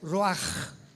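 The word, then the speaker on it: רוח: apunta la palabra espíritu del hebreo ru con ch se pronuncia roaj como con j.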